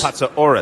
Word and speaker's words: Patsouris: Pronounce it the Greek. No, I'll let you. You learned it. Patsouris. All right. I mean, the way you pronounced it was wonderful. But I have a Patsouris. Patsouris. Only the mayor can pronounce it correctly.